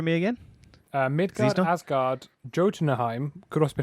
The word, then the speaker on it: Jotunheim: I thought Jotunheim was a Y, but it's got a J here. No, yeah, it's like Jotunheim. Yeah, so I'm assuming it's like German, where you pronounce your J's as Y's.